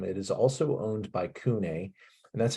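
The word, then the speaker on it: CVNE: bottles left um it is also owned by Kune and that's how you pronounce that c v n e it looks kind of strange but that's bosk and it's pronounced kunai um but they're a really important real hot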